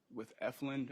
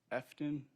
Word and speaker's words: Efland: Can't really say word for word, but I know I wasn't familiar with Efland at the time. I was mispronouncing it. And yeah. What'd you call it? I want to say Efton.